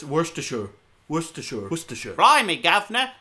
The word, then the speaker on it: Worcestershire: It seems yesterday I may have pronounced this town wrong. I may have said Worcestershire, because in the United States we have a